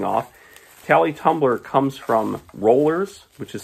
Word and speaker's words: Rollors: Tally Tumbler comes from Rollors, which is spelled R-O-L-L-O-R-S.